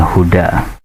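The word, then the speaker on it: الهدى: Seharusnya kita katakan sami'nal huda'a, kami telah mendengar petunjuk. Tetapi di sini tetap membacanya sami'nal huda, sama seperti ja'ahum al-huda.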